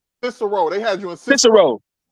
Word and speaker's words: Cicero: Wait, It was technically it was a Syrio? I can't pronounce it the right way. Cicero.